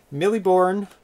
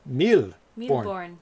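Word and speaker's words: Mille Bornes: fine yeah i mean millie bourne oh it's a french so i'm saying it wrong that meal born thousand uh your glass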